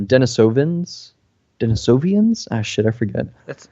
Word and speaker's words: Denisovans: Denisovians? Ah, shit, I forget. That's yeah. Or Denisovans. Haha, I remember how to pronounce it now. Denisovans.